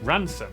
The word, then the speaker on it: Rampisham: Starting in Biaulio, Bewley, head over to Rampisham, Ransom, then down to Mousehole.